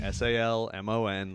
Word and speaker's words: Salmon: week's guest is salmon salmon actually yeah it's spelled salmon okay so if you're looking for me online s-a-l-m-o-n like the fish that's how you do